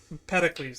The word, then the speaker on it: Empedocles: Empedocles, that's how you pronounce that.